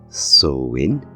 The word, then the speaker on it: Samhain: pagans know know it Samhain which is actually pronounced in two ways depending on your dialect it can either be pronounced as soin orun when translated